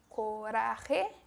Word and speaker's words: Coraje: Coraje, o pronúncia bem esse J com o som do R.